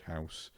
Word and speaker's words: Haus: Aussie and surrounding areas who can't say the word house because it's spelt the German way instead of the English way.